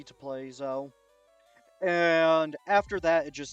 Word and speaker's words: Zhou: But I guess it's so you couldn't play your minx searcher and then just grab Zhou. Oh, which is how you pronounce that. I thought it was Zhao.